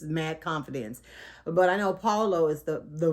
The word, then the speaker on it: Paulo: wrong with just mad confidence but i know paulo is the the right way to say his